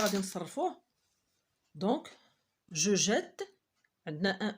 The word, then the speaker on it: jette: D'autant plus la consonne fait le travail d'un accent grave. إذا لاحظتوا كاين عندنا واحد المد على حرف E. On prononce je jette.